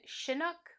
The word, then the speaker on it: Chinook: I have seen Chinook with like a soft sound and Chinook, and so I did some research and I found a website attributed to the Chinook Indian language, and in their FAQ they specifically say that it's pronounced like chipmunk. And so I believe I'm going to say Chinook.